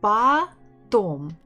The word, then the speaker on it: потом: So, and I know that O that is not stressed is it sounds like A. That's why I can guess that the stress is on the second syllable.